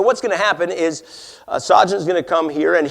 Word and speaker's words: Sajan: Here's how you pronounce his name, okay? And you're drinking gin. Sajan, okay?